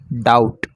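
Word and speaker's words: doubt: ऐसे कि डीओएम बीटी कि डाउट इसको डाउट पढेंगे यहां पर भी साइलेंट रहता है तो इसको डाउट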